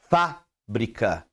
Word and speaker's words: fábrica: pra sua escrita correto Quando você vê o acento no fa você vai falará fábrica aí quando você olha